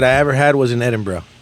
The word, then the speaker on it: Edinburgh: full places that I ever had was in Edinburgh Edinburgh Edinburgh Scotland not Edinburgh they yeah they'll curse